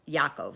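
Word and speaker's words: יעקב: and one was jacob yaakov i'm going to say their names in hebrew but i'm just going to say the english pronunciation of esau and jacob is asav and yaakov and yitzhak who's isaac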